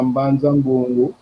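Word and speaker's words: Mbanza-Ngungu: Mvula mosi kuna mbanza ngungu. Kuna mbanza ngungu. Porque no kiazi kolo que eles receberam ajuda e viveram ano no mbanza ngungu. Não, você falou bem, primeiro pronunciou bem.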